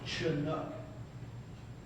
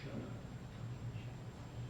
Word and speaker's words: Chinook: It is Chinook, not Chinook.